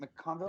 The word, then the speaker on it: McConville: How do you say it? Mcconville? Yeah, you got it.